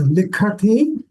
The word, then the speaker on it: लिखति: This is Mahaprana. You are pronouncing it as Alpa Prana. It is Likhati, Likhathaha, Likandhi, Likasi, Likathaha, Likatha, Likami, Likhavaha, Likhamaha. So we need that stress on the Ka Varga because it is Mahaprana.